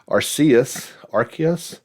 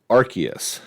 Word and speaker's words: Arceus: Obviously gets things started today, actually, with the release of Pokemon Legends Arceus. I've heard it actually, I've been pronouncing it that way for the longest time.